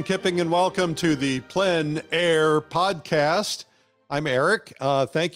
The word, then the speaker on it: plein air: which means open air or Outdoors the French pronounce it plan air others say plain air no matter how you say it there is